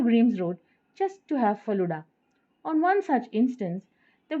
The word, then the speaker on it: falooda: visits to Chennai Delhi it's pronounced the word as faluda and not falooda as we pronounce in Tamil Nadu I tried pronouncing it